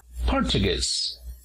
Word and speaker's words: portugués: en la primera sílaba para decir portugués nos fijamos también en el apóstrofo para acentuar la palabra en la tercera si la wta portugués luego tenemos a arabia